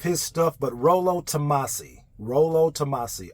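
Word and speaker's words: Rollo Tomassi: stuff but Rolo tamasi Rolo tamasi r o l l o and then tamasi exactly how it sounds is is how it's spelled this guy has books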